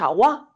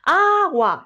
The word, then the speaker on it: agua: ¿Cuál es la sílaba tónica? A, no decimos agua, ¿verdad que no? Decimos agua. La sílaba tónica es A.